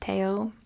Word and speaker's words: Theo: I'm sorry and I'm pretty sure his brother's name is pronounced Teo I'm probably gonna say Theo a lot I do my best